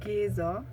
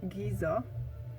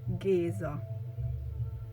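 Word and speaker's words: Géza: called giza is mentioned so it's geezer not giza we have the word giza as well but this is a a city in egypt so his his pronunciation is geezer at about 7 minutes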